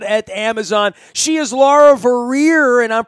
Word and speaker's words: Vorreyer: She is Laura Vorreyer, and I'm pronouncing that right. That's Vorreyer.